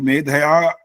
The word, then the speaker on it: मेधया: मेधाया मेधाविनम कुर स्वाहा जो अ का उच्चारण पूरा किया वो गलत हो मेधया मेधया अग्न नहीं बोलते यहां पर मेधया ऐसा बोलना होता है मुझे लगते पता